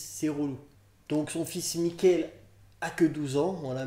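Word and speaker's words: Mikkel: Il recherche son fils Michael, je crois que ça se prononce vraiment Michael en plus, on va pas se mytho. M-I-2-K-E-L, Michael, quelque part.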